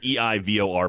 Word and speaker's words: Eivor: E-I-V-O-R, pronounced Eivor.